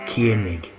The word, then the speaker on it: Koenig: As you see, Walter Koenig, pronounced Koenig, right? Koenig, right? With a K, right?